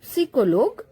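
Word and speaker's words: psychologue: scientist psychology look now here that p is pronounced as we say pepsi so pay will be silent it is sicolog which means psychologist wander wander wanders wanders wander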